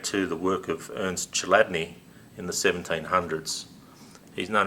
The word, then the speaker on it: Chladni: The chassis design technology actually goes back to the work of Ernst Chladni in the 1700s.